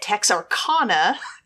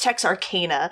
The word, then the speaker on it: Texarkana: her about it and I was calling it Tex Arana cuz that's just I don't know what I naturally thought she's like no no no it's Tex Arcana but she was joking like oh no no